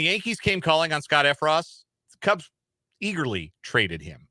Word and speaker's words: Effross: Am I pronouncing it right? Effross? Effross, yeah.